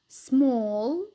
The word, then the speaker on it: small: عنا حرف ال A الصوتي لما بيجي بعده double L فدائما بنلفظه O. طبعا هذا الحكي باللهجة البريطانية. فالكلمات هون بنقرأهم كالتالي: ball, wall, small, tall.